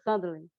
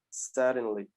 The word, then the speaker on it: suddenly: Do Fred Mercury, tem essa palavra, suddenly. The letter D, it's like the sound R in Brazil. Suddenly.